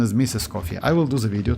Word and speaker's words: Escoffier: So yeah, her official name pronunciation is Miss Escoffier.